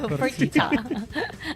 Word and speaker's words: Fertitta: His last name rhymes with fajita. Fertitta.